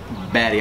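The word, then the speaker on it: Bady: here this is uh baddie b-a-d-y pronounced batty i call him bad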